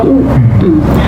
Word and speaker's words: 惡: La "aversión" en este contexto se entiende fácilmente como "asco", por lo que se pronuncia "wu " (no "e ").